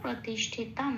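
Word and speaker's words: প্রতিষ্ঠিতম্: ঠয় তার যুক্ত অক্ষর, পেট কাটা মধ্যন্য শয় হসন্ত লাগিয়ে বাইরে বার করে এনে তয়ের সাথে জুড়ে উচ্চারিত হলো তিস, ঠয় হস্য এটা পড়ে রইল, তমটা যেমন আছে তেমন। ময় হসন্তটা খেয়াল রাখতে হবে, শ্লোকের মধ্যেই আছে, অর্ধমা তয়ের সাথে জুড়ে উচ্চারিত হবে।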